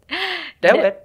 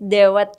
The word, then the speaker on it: dawet: Jadi bacanya D-A-W-E-T kan bacanya. Kalau bahasa Inggris dewet kan. Kalau bahasa Indonesia kan dawet. Iya, A-nya kuat ya, A-nya jelas. Iya, A-nya jelas.